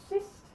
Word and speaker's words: sidst: Okay, and this one, tak for sidst, the D is silent. So tak for sidst.